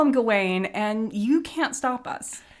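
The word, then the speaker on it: Gawain: Gawen, which is pretty similar to whatever they're saying, um, is the Welsh pronunciation. Gane is the French pronunciation.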